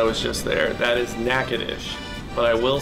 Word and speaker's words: Natchitoches: That is Natchitoches. But I will say, before I actually went there 2 weeks ago, I used to call it Natchitoches. That one is not pronounced the way it looks.